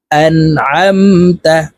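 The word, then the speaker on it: أنعمت: আম তা জবর তা আন আমতা আইন জবর আ লাম ইয়া জবর লাই আলাই হা মিম জের হিম আলাইহিম আন আমতা আলাইহিম আইন কে হালকের মধ্যখান থেকে চাপ দিয়ে উচ্চারণ করব আন আমতা আলাইহিম সিরাতাল্লাজিনা আনআমতা আলাইহিম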